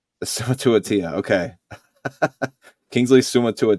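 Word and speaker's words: Suamataia: It's Summa to a T. It ends at T. Yeah, Summa to a T. Summa to a Tia.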